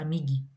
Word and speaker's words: amigue: Daí você pronuncia e fica amige, porque tem a regra gramatical que né? E i depois da letra g fica você pronuncia a letra g como j. Então daí para consertar isso, a gente usa a letra u, a gente adiciona a letra u também. E fica amigue.